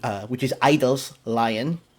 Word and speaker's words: (G)I-DLE: is G which is idols Lion the G is silent takes mmmm I used to say G idol all the time now